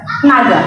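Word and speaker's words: נגע: Jamah di sini dalam bahasa Ibrani-nya adalah naga. Naga, N-A-G-A, kita bacanya naga.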